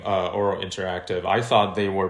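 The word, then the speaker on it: Ouro: Myself, a couple other builders on the Horizon team, we split off and we formed Oro Interactive. It's spelled O-U-R-O.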